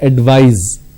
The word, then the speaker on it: advise: in the verb form instead of C you need to use S and it's pronounced as advise so please advise me